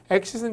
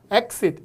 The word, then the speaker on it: exit: 저기도 exit이라고 쓰여져 있는데 exit은 출구입니다. 하지만 동사로 쓰면 나가다라는 뜻이 있어요. 근데 이게 발음이 두 개로 나는데요. exit 이렇게 하셔도 되고요. exit 이렇게 하셔도 돼요. 발음이 두 개로 나는구나.